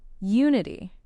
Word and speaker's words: unity: Unity. Ah, unity. Another beautiful word. U N I T Y. This one's a bit shorter and easier to pronounce. Unity. The stress is on the first syllable.